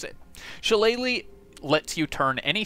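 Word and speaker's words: Shillelagh: ignore this one Thorn Whip and most importantly shalele which yes is how you pronounce it shalele lets you turn any any staff or Club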